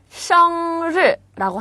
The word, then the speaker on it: 生日: 生日라고 합니다. 자, 를 발음 조심하시고요.